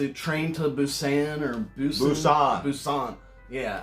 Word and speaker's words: Busan: Busan. Yeah, I think I looked it up and it's actually pronounced with a P.